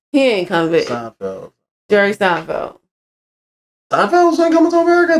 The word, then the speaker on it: Seinfeld: Jerry Seinfeld. Am I saying his name wrong?